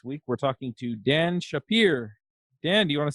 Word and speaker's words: Shappir: JavaScript story this week we're talking to Dan Shapiro dan do you want to say hi yes hi and you actually pronounce my last name very well so thank